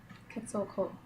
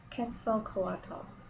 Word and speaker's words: Quetzalcoatl: Quetzalcoatl. And the Priestess of Time. This is the image from the American deck, and the image is the same with the Australian deck. Quetzalcoatl.